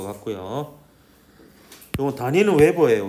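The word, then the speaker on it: weber: 요건 단위는 웨버예요. 웨버 WB라고 쓰고 이제 웨버라고 읽는데 그냥 크게 기억을 안 해도 될 것 같습니다.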